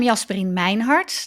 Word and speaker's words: Jasperien Meinhardt: I'm Jasperien Meinhardt. That's pronounced the Dutch way.